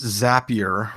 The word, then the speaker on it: Zapier: and first it's pronounced zapier remember that reminder that's right it rhymes with happier ah okay there you